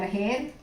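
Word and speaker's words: heir: H-E-I-R, hair. Then H-A-I-R, hair. In the same way, no. See, spelling same. Pronunciation same.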